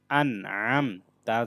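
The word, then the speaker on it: أَنْعَمْتَ: আইন মিম জবর আম, আন আম, তা জবর তা, আন আমতা, আইনটা গলার মধ্যভাগ থেকে উচ্চারণ করতে হবে।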